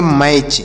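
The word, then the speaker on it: match: तो इसे पढ़ेंगे कैसे एम ईटी सी एच तो यम से पढ़ेंगे मा ए से आ की मात्रा का उच्चारण करेंगे और टी यहां पर साइलेंट होगा सी एच से पढ़ेंगे च तो इसे पढ़ेंगे मैच एम ए टी सी एच इसे पढ़ा जाएगा मैच इसे मट च या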